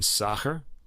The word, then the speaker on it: Sacher: sasher or was a s-a-c-h-e-r sacher i don't know how to say it i hope you're saying it right i think it's it's a german pronunciation soccer was a swiss conductor